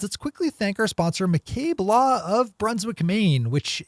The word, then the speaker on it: McCabe: at in headlines let's quickly thank our sponsor McCabe law of Brunswick Maine which is the firm